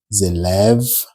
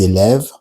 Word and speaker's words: élèves: Les élèves. Here, S at the end of élève is in green, just to say it's mute, you don't pronounce it.